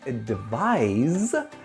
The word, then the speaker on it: advise: The word advise, which is spelled with an S and has a Z sound at the end, is the verb.